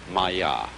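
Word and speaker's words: māyā: Pronounced Maya.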